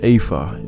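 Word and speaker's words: ephah: 374 AFA okay so an apha is the proper pronunciation I see what it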